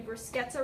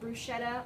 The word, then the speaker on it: bruschetta: So, like I said, today we're going to be making a bruschetta recipe. As per YouTube, that is how you pronounce it. It isn't bruschetta, or how my sister pronounces it, which is prosciutto.